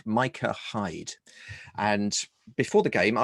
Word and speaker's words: Micah Hyde: for watford that is pronounced micah hyde it's not mika it's micah hide right no thanks mate